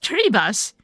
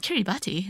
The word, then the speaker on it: Kiribati: Oh, pronounced Kiribati. What? It's not Kiribati. I'm sorry if whoever lives in Kiribati. I butchered the word.